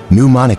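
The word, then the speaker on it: pneumonic: one with the bubos ponic he said pronounce ing the pee it went in your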